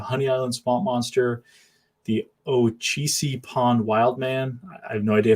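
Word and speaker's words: Ocheesee Pond: First and foremost, yes, Ochisi Pond Wild, man. You got it perfect. If you could pronounce Mogollon Monster, then you got Ochisi Pond Wild, man, all the way.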